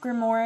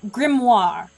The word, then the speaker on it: Grimoire: today mmm I'm sorry I just realized I say Detective grimore again I said Detective grimore again oh my gosh thank you tiny TK for ruining my pronunciation of grit grimoire okay I'm just not